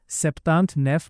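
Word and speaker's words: septante-neuf: करना चाहते हैं तो वहां की फ्रेंच में 79 को सेपतांत नेफ बोला जाता है क्योंकि 79 बनाने के लिए 70 में नौ जोड़ते हैं।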